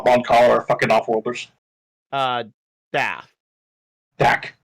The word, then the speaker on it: Mon Cala: We were on Moncala. Moncala. It's like Mon Calamari, but without the Mari.